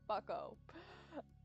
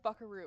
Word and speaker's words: bucko: Bucko. I said buckaroo, but I was like, there's no R in there, so I don't know how to say this. It's bucko.